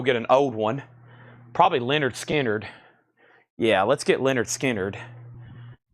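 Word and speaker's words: Lynyrd Skynyrd: I've got Elvis Presley, 500-piece puzzle, $24.99, and I've got Leonard Skinner, pronounced Leonard Skinner.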